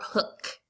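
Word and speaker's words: Hooke: his name is Robert Hook okay who knows why He's that e at the end but he pronounce it hook he came up with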